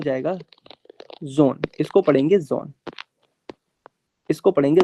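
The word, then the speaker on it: Sohn: ये हो जाएगा जोन।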